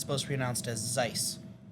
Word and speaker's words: Seuss: he works with Dr Seuss it's actually supposed to be pronounced Zeiss believe it or not I can't pronounce his